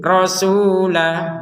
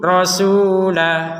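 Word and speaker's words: رسولا: Rasulan kita bacanya rasula. Kenapa kita baca rasula menjadi dua harokat dan bukan dibaca fathatain? Karena kita berhenti.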